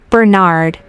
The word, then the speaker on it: Bernard: your first name how do you spell that thanks and what's your surname Bernard that's b e r n a r d fine how old are you I'm 22.